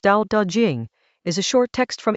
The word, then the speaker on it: Dao De Jing: The Dao De Jing, pronounced Dao De Jing, is a short text from ancient China, attributed to a figure called Laozi, Lo Diza.